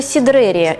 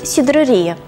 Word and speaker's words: сидрерия: Поэтому пока нет верного или неверного варианта произношения. Можно провести параллель со словом «пиццерия» и «пиццерия». В русский язык оно пришло гораздо раньше, и в словарях зафиксированы два равноправных варианта ударения в этом слове.